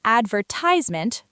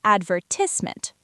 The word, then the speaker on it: advertisement: Americans say advertisement. British say advertisement. The stress is on different syllables.